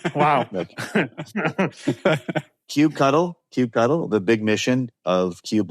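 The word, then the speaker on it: kubectl: but really important question Cube cuddle or cube control or how do you say uh I'm typically resorting to cube CTL which I know a lot of people are not a fan of but that's not correct wow Cube cuddle Cube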